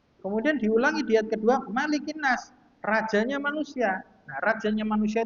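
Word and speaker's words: مَلِكِ النَّاسِ: Aku berlindung kepada Rabbnya manusia malikinas kepada rajanya manusia. Jadi kemarin juga sudah disinggung bacanya maliknya itu pendek. Mananya itu mimnya pendek. Malikinas. Jadi jangan dipanjangkan. Jangan malikinas bukan tapi malikinas.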